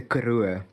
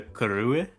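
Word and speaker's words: Karoo: is very close to a desert called the karua uh well that's how we pronounce it but you probably pronounce it like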